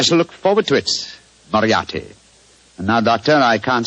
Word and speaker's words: Moriarty: I'm afraid I'll have to begin calling it the way it looks. m o r i a r t y Moriarty.